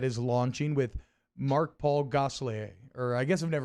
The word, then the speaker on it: Gosselaar: launching with Mark Paul Gosselaar, or I guess I've never really known how to say his last name. Gosselaar? I thought it was Gosselaar. There you go.